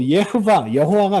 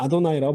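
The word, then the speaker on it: יהוה: 요거는 그냥 뭐 예흐바 여호와가 아니라 아도나이라고 발음합니다.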